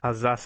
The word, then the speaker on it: Alsace: Alsace we're going to.